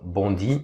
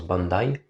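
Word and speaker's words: Bondi: connue c'est bondai Beach que les purs français app appellent pardon bandi mais ça se prononce Bandai pour moi façon sont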